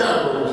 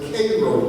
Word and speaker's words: Cairo: Now, I know it's spelled Cairo, but we Georgians get a little upset if you call it Cairo, Georgia. It was Cairo, Georgia, and the home of Cairo syrup.